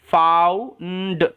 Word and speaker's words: found: এন এর জন্য ন ডি এর জন্য ড ফাউন্ড ফাউন্ড ওকে খুঁজে পাওয়া এরকম ঠিক আছে ফাইন্ডের পাস্ট